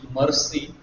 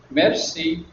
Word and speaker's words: merci: Pay attention to the pronunciation. It is not the way we speak in English, mercy. It is merci, thank you.